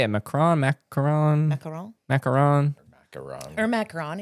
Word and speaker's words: macaron: Macaron. Macaron. Macaron. Macaron. Or macaron. It doesn't matter when you get in there. So it has two is macaroon. That's the coconut one.